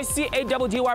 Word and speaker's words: Caddy: Boom, just like that, you know what time it is, Bafethu, your boy C-A-D-D-Y, pronounced Caddy, yet on another mission running the streets of Johannesburg.